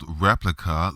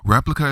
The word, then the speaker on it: Replika: In the middle of the show, Lisa talked about an app called Replika, that's spelled like replica, like a copy, but with a K. Replika is a generative AI chatbot app released in November of 2017.